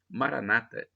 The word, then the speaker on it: Maranata: aramaico dialeto de Jesus eu digo como católico para Nathan com a tônica na última sílaba ou como dizem os protestantes evangélicos com a tônica na penúltima sílaba Maranata não tem importância não